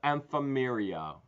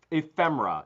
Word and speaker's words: ephemera: a entire lot of emperia did I actually say it right for once ephemera no I didn't it's ephemera It's Paper Products EPA